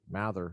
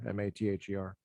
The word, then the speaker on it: Mather: That's interesting because my last name is spelled the same way, but we've always pronounced it Mather, Mather. Kind of like I don't know if you are familiar with the Puritans, Cotton Mather, Increase Mather, Richard Mather. Right. So in that line of pronunciation of the last name.